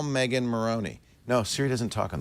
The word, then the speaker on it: Morrone: You know, you can correct her pronunciation of Morrone. Yes, we'll work on that later. I would like to, because it calls you a moron. I think that's not nice. It's Morrone. Morrone.